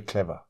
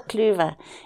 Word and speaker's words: Cluver: I first met Paul Clover is that somebody got that name that's her name wrong the you should be changed to an E because it is it's the clever family they've all got doctorates